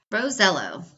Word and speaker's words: Rosiello: pronounce his last name he asked his Italian grandfather years ago he confirmed it rosello so thank you so